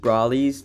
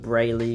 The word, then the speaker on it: Brawley: Also, I've been saying Matt Brawley's name wrong. It's Matt Brawley, not Matt Brayley Ryan.